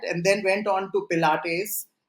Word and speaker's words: Pilates: then went on to Pilates I I hope I am pronouncing it right because I have nothing to do with Pilates you're saying it correctly okay okay so she